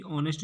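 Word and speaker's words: honest: ये दोस्तों लिखने में मिस्टेक होगी, आप कॉपी में सुधार लीजिएगा, क्योंकि ऑनेस्ट जो है इसका जो प्रोनाउंसिएशन है अ से हो रहा है, और यहाँ ए नहीं आएगा, ये गलत है, यहाँ आएगा एन।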